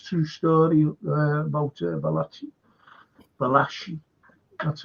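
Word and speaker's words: Valachi: great film yeah it's true story about vachi vashi that's how you pronounce his name Deon I've always taught two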